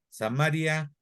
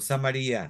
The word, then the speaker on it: Samaria: La capital del reino del norte se llama Samaria o Samaria. Se puede pronunciar de las dos maneras.